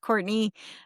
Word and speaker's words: Courtenay: I spell my name a little bit differently. It's uh spelled like Cortana. It is pronounced Courtney.